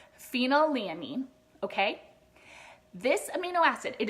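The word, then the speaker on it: phenylalanine: amino acid as well it is pronounced phenyl a mean okay this amino acid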